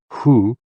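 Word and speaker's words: hu: associated with the kidneys ho o o pronounced like who which is associated with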